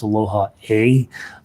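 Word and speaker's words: Aloha ʻOe: I have been told it's Aloha A, but it always looks like like aloha oi to me, and Hawaiian is a very phonetic language, so I think that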